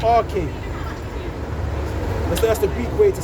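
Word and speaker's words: arche: But it's pronounced R-K. That's the Greek way to say it. Okay. It sounds Yeah, like okay, okay. It sounds like the root of archaic Okay.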